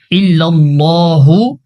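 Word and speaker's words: إلا الله: ইল্লাল্লাহু, এখানে আল্লাহ শব্দের লাম মোটা করি না।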